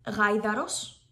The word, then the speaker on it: γάιδαρος: This mark is used to indicate that 2 vowels for an unstressed 2-letter vowel or a combination are pronounced separate. Γάιδαρος, lowercase letters, γάιδαρος, uppercase letters.